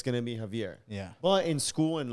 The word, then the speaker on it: Javier: No, because in Spanish it's Javier.